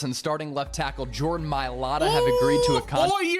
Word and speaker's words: Mailata: sibling, knowing that they've changed the Mailata generation forever? That's the correct way to say it, guys.